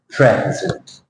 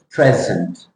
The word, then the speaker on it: present: the first word present present present you see the stress there in the first syllable present and the second syllable